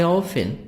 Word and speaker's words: often: I often, T silent, I often use my computer to download music.